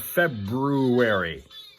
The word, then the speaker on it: February: Friday morning, 27th of February. We only have to say the R in February a couple more times.